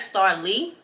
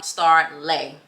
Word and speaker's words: Starleigh: with my name so my name it looks like Star Lee because it's spelled l-e-i-g-h but my name is actually star lay that's how you say it um and the easiest way to remember that is just act like you laying down and that's how my name was actually supposed to be spelled s-t-a-r-l-a-y but and these